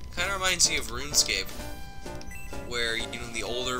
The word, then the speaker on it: RuneScape: God, am I getting nostalgic over Run Escape? Because that was the actual pronunciation of the title. Run.